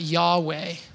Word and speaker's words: Yahweh: Some of us would pronounce that Yahweh.